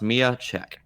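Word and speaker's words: Miya Cech: But the casting we have is Mia Chek, and that's pronounced Mia Chek.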